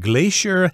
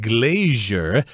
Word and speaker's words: glacier: And I should mention that this word can be pronounced different ways. In the American dictionary, we got the word glacier and glacier, but I believe British people say glacier, so it depends on where you are.